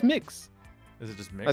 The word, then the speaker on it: Mx: pronounce MX? It's mix.